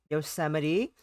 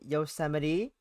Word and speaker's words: Yosemite: And then we met Yosemite. Not pronounced Yosemite, as I almost did.